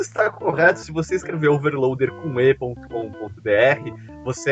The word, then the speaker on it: Overloadr: você é redirecionado pro Overloader também. Olha a malandragem. Tá só pra ter a garantia. Porque, falando Overloader, você nunca vai presumir, né, que é um R mudo.